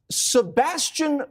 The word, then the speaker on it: Sebastian: Sebastian Gorka said something very brilliant today.